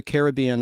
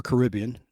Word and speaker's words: Caribbean: Similarly, audio recordings of Paul Fries from the Pirates of the Caribbean attraction, or Caribbean, depending on how you pronounce it, can be heard in Pirates of the Caribbean at World's End in an homage to the ride.